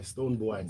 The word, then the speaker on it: Stonebwoy: From the beginning, if you say boy, I'm like, yeah, it still means boy. It's boy, Stonebwoy. So that you get a pronunciation right.